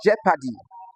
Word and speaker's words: jeopardy: Now the e o in the word jeopardy is actually a.